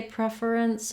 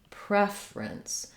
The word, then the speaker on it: preference: saying fur prefer then when we get to preference it looks like prefer in the first syllables but we actually pretty much drop this syllable I could say preference but most native speakers will just use two syllables in this word saying preference so because we're stressing